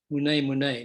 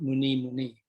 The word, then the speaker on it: mune: Mune Mune, not Muni Muni. He emphasized that.